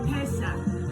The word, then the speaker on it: Pesach: So our topic today is Passover or Pesach. It's spelled P-E-S-A-C-H.